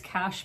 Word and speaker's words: cache: here um and I apparently am pronouncing that wrong apparently it's cash but um I'm just going to say cache because that's the way I've always done it so so you know